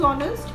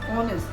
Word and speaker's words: honest: How do we pronounce honest? It's honest, not honest. So if we say honest, what is the sound? It's starting with a vowel sound.